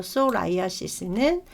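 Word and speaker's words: psoriasis: 발생하기도 한답니다 자 그다음에 솔라이아 이스라 해 가지고요음 이건 묵음이 예 그래서 솔라이아 이스는 마른 버짐 또는 이제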